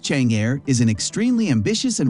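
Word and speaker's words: Chang'e: the moon for exploration The Cheney pronounced Chang air is an extremely ambitious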